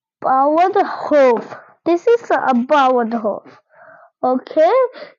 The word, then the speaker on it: Bauernhof: This is a Bauernhof. Okay, just like a bow, just like a dog also say bow, and there's a couple of Bauernhof.